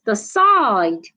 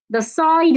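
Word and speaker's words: decide: Another example is the side. The side is a verb, you need to stress the second syllable.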